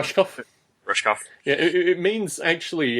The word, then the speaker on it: Rushkoff: I don't know how to pronounce the last name. Rushkoff?